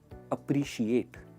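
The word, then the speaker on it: appreciate: अभी आप कहोगे अप्रिशिएट के एंड में तो ई है, पर इसकी जो साउंड है ना वो टी पर आके खत्म हो जाती है. आप ई प्रोनाउंस ही नहीं कर रहे हो. अप्रिशिएट ट पे खत्म होता है.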